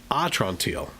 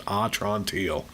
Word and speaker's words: Atrantil: Also, this half hour is brought to you by Atrantil. Okay? That's how it's said in my promotional material here. It's sounded out as Atrantil.